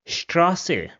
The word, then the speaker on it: Straße: But if this comes at the start, then it has the sound of sh. So for example, this word over here will be pronounced as Straße, which means street. So Straße. Another example will be Start, which means start. So start. So whenever it comes at the start, it will have the sh sound.